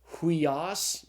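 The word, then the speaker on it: υἱός: And so the Greek word is pronounced huios. Notice that's the rough breathing over the iota. Huios.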